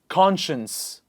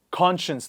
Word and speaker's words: conscience: we say conscious please repeat after me conscious conscience conscience this word is very different from the first